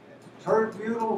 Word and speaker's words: tert-butyl: Tert-butyl rhymes with basketball, doesn't it?